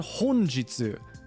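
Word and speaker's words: 本日: flip those kanji we now have the word honjitsu which is a completely different pronunciation entirely again now it chains to Jitsu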